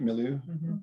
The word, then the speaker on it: milieu: living in or the meloo or the terrain well there was that word of the pronunciation last week did i say it right milieu yeah yep okay so the terrain and